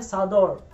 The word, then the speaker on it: Sador: ये शॉल नहीं, जो चादर है इसका एक्चुअली प्रोनाउंस होता है सादौर। तो ये पहले जो मैं दिखा रहा हूँ ये एक्चुअली चादौर है।